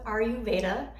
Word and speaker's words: Ayurveda: I've heard that pronounced different ways. I'm going to stick with Ayurveda.